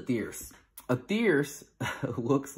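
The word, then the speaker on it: thyrse: is called a fierce it kind of looks like fiercy which reminds me of thirsty which always makes me giggle a little um so this is a thierce a thierce looks like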